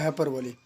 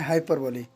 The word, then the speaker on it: hyperbole: Topic है वो है हाइपरबोली। ज़्यादातर इसे हाइपरबोल भी कहा जाता है, लेकिन इसका जो करेक्ट प्रोनाउंसिएशन है वो है हाइपरबोली।